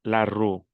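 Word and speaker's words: rue: La o con la u es u. Yo digo nu, vu, la ru y puedo ver cualquier palabra y lo sé pronunciar.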